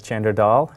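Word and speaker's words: Chander Dhall: hello my name is chander dull commonly pronounced as chander doll today we're going to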